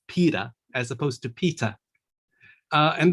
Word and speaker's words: Peter: name all right so i say peter right i pronounce my t very clearly i don't pronounce the r at the end uh if there's nothing else follow it following it i just say peter uh i quite often get people calling me peta all right so that